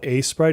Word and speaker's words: Aseprite: This is called Asprite. It's spelled Aseprite. It's probably the most used Sprite program.